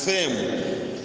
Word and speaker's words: PFEM: That's why the church I lead is called a pillar of fire evangelical ministries, which is PFEM. We pronounce it as FEM.